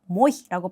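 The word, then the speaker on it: мой: 이모이라는 단어는 유일한 모음 o오를 가지고 있기 때문에 굳이 제가 강세를 찍어 드리지 않아도 아 강세는 유일한 모음에 떨어지는구나라는 걸 생각을 하셔서 모이라고 발음을 하시면 되는 거고 마이라는 단어 같은 경우에는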